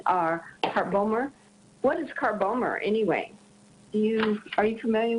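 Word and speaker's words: Carbomer: part bomber what is car bomber anyway you are you familiar with that no I don't know that spell it again Linda G AR like the car Bo m er a polymer made from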